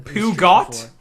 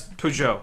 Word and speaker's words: Peugeot: Oh, it's French. Peugeot, I guess. Yeah. Pigeon? Yeah. Peugeot. That's Peugeot. I have confirmed it's Oh, Peugeot.